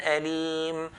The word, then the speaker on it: أليم: Like this example, how do we pronounce it? عذاب أليم, عذاب أليم, bun أليم, عذاب أليم.